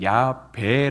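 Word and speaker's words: 야훼: 또 그쪽 언어로만 보면은 야외라고 하는 발음보다는 이렇게 야배 아고 이렇게 비읍 받침으로 읽는게 조금 더 맞을 것이 다라고 이렇게 언어 자들이 이렇게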